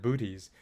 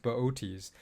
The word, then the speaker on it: Boötes: It looks like booties, but it's pronounced Boötes.